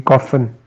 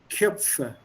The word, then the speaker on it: Köpfe: Die Koffen. Köpfe. O Umlaut.